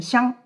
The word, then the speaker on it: 相: 相这个字可以读作相貌的相，也可以读作互相的相，用在性